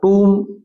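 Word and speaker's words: tomb: द टम ऑफ a king. टम होती है कब्र। इसका उच्चारण थोड़ा ध्यान देना। यह सेकंड ग्रेड के एग्जाम में आया हुआ है। टूम बोलते हैं इसको।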